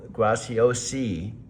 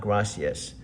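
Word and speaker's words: Graziosi: Dean is spelled his last name is G R A Z I O S I. Grao. Graciosi. Not gracias. G R A Z I O S I. Graciosi.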